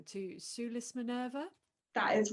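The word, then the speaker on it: Sulis Minerva: correct me if i say this wrong to sue lis minerva that is right yes that's the correct pronunciation thank goodness for these latinate languages um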